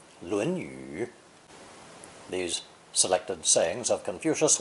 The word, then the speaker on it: 论语: The second tone pronunciation is basically reserved for the title of the ancient classic, the Confucian Analects, 论语.